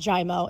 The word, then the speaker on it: Giaimo: am I getting this so the correct pronunciation in Italian is actually giamo you have it but it's just jaimo oh really can you say it with an Italian accent yeah here we go but it's it's just pronounced jaimo it's easier and uglier